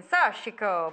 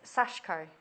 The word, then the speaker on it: sashiko: say it in Italian, Sashiko, but you're Which pronouncing... sounds amazing. You're pronouncing the I, but it's Sashko. Right. So ignore the I in it.